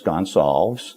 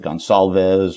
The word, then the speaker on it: Gonsalves: And my last name is Gonsalves. Yes. A lot of people look at my name and they pronounce it Gonsalves or Gonzalez. Okay. It's actually a Portuguese name, so I'm also a product of immigration.